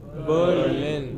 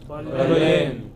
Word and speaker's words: Berlin: For no rhyme or reason, which are pronounced differently. What is the next? Berlin. Berlin. What is it? Berlin.